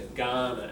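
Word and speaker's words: Kaurna: they you know she was talking about Aboriginal Ghana people are we clear on that the people who live here y been here for you know tens of thousands of years the Ghana and that's pronounced for the good not a cook spoke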